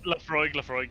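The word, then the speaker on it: Laphroaig: Lafroig? Lafroig, yeah. With the G at the end, the G at the end? Yeah, with a G there, Okay, yeah. so okay. like, you know, Lafroig, yeah, I might be hitting the Lafroig.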